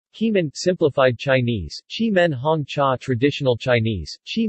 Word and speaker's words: Keemun: of the nearby town Keemun pronounced Chi Minh the tea growing region